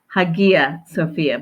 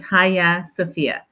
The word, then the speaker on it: Hagia Sophia: correct way to pronounce it it looks like Hagia sopia but it's actually pronounced Haya sopia which means holy wisdom it was originally B